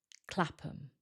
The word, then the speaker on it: Clapham: The ham becomes weaker and sounds like because it's not stressed. So this sounds like Clapham. Clapham.